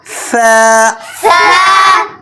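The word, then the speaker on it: ث: করে উচ্চারণ করতে হবে সা সাটা অনেকে এভাবে উচ্চারণ করে সা বললে ভুল হবে সা বললে সিনের মত উচ্চারণ হয়ে গেল নরম করে উচ্চারণ করতে হবে সা বা তা সাটে হরফ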